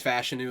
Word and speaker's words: Fashanu: up Olu fashanu fashanu I think it's fashanu that that I think that's how you're supposed to pronounce his name um I'm not sure